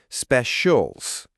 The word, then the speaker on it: specials: It's pronounced specials, with the stress on the first syllable.